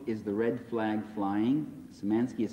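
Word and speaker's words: Szymanski: other people online yes you could read Al samanski's book is the red flag flying so manski is spelled s z y m-a-n-s-k I or Y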